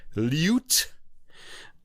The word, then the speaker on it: lute: of the word loot i like to say loot i had a teacher who insisted it was lute which is how it's often sung and um he said to me that uh if i if i didn't pronounce it the way he wanted me to that he was going to puke but i still